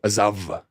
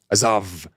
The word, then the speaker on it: Azov: And probably it's Azov, if we want to pronounce it like in Russia. Azov, however you want to say it.